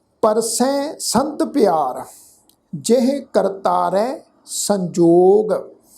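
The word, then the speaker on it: ਪਰਸੈ: सब तो पहला पाठ है परसै, पप्पा रारा ससा हाही नू सिहारी की मात्रा है। तो इस शब्द का पाठ उच्चारण करांगे परसै, नासकी टोन में पाठ उच्चारण होएगा परसै।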